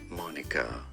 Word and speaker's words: Monica: manka monk how to say man Micah the pronunciation of Monica Monica and now oh it's Monica okay and it